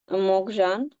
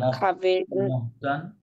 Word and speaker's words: Morgan: Il y a 5 ans, Morgan না, মহগান, মহগান, Morgan Cavell Cavelle খাবাইয়ে, খাবাইয়ে, double L silent, খাবাইয়ে, travailler dans l'acte Cotton Fouet পোহা।